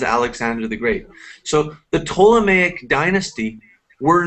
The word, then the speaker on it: Ptolemaic: I think we say Ptolemaic, the P is silent. Ptolemaic dynasty, a family of Greek origin that ruled Egypt after Alexander the Great's death.